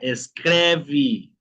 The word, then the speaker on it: escreve: Entonces, la regla nos indica, chicos, si la e está al final de la palabra y sin acento tiene sonido de i.